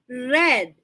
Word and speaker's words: read: past tense of read the past tense of read is red same spelling but different intonation or different pronunciation instead of read that is red that is the past